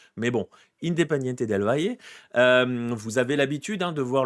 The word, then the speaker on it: Independiente del Valle: On va le prononcer pas à l'Argentine. Si vous avez un Argentin qui vous parle, il va vous dire Independiente del Valle. Mais bon, Independiente del Valle.